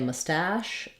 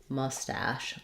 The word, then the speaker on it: mustache: the word mustache um sometimes people will say a mustache with second syllable stress more common in English is first syllable stress we have a Val schwa here the uh sound mustache letter A says the ah sound and letters c h e say the sh sound so it sounds like